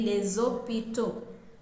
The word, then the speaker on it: les hôpitaux: If it is in plural and we are using a definite article, we will say les hôpitaux. And the last S in les is pronounced as Z.